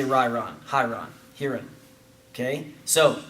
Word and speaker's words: Ryron: got Andre galvao versus hiring Gracie or uh your pronunciation is off ryron Gracie right right Gracie um